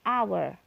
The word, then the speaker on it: hour: atau Haya icmi huruf mati tapi pembacaan disini hour our terdengar ah depannya hour Hai ini harus kasihan hour Hai karena cara bacanya dia Hai terdengar seperti Huruf hidup ya